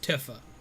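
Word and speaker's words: Tifa: i am better um tiffa is pronounced tiffa like tiff um but how are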